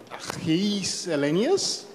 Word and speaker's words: Gijs Hillenius: Okay, so our next presenter is Gijs Hillenius.